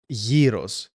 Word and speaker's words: gyros: But you should pronounce it as gyros. Imagine it with a Y and double E.